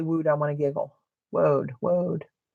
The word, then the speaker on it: woad: I was pronouncing it like I heard Robin pronounce it. Road. So it's woad. I like that word better. Because every time I say wood, I want to giggle. Woad.